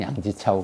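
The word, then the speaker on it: 梁啓超: 그런데 이걸 이제 그 기독교를 안 믿었던 사람들은 이제 대략 1900년 전후해서 이제 중국 사람 양계초, 뭐 발음은 양지차오 그러는데 양계초라는 사람이 은빙실 문집이라는 자기 책에다가 이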